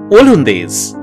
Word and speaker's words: ওলন্দাজ: অবশ্য ফরাসিরা উচ্চারণ করত ওলন্দেজ, আর সেই ফরাসি উচ্চারণ শুনেই বাঙালিরা বলতে শুরু করলো ওলন্দাজ।